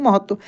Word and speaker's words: महत्व: त का उच्चारण काफी तेजी से हो रहा है, इसलिए आधा त है और वह है तो महत्व। त्व, देखिए त्व ऐसे पढ़ना हम लोग, ठीक है ना? महत्व यानी अभ्यास का महत्व।